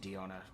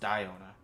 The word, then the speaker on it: Diona: I keep saying Diona. It's pronounced Diona.